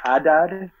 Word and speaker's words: Adad: The Hebrew name, but I say Adad, but I think it's more Adad or Adad.